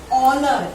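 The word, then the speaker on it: honour: Honor. H-O-N-O-U-R. Honor कहते हैं हम. H is again silent over here.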